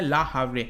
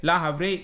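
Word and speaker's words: Le Havre: जिसको कहा जाता है ला हावरे, ठीक है, ला हावरे, ये इसको प्रोनाउंस किया जाता है फ्रेंच में।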